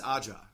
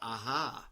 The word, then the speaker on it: Aja: pronounce it you know he's French right shouldn't that J sound like an H so he's Alexandra aha yeah plus you get to